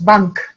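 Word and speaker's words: банк: Les Russes n'ont pas de nasal, donc ça se prononce, chaque lettre se prononce banque, banque.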